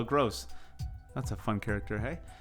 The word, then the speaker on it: Gross: supposed to ask you how you pronounce that name pascal what is it for brighton globe grove it looks like grove it's pascal gross that's a fun character